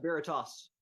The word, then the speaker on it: Veritas: Greg, before I screw up your band name, is it Veritas? Yeah, Veritas. All right, because I was definitely pronouncing it wrong to start with, so I